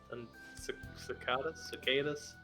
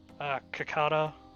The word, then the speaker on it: cicada: I've heard it pronounced Cincada, Cincada, Cicada. Doesn't matter. You deserved it because you talked to someone other than me. Well. Oh, it's pronounced both ways. Cicada or cicada.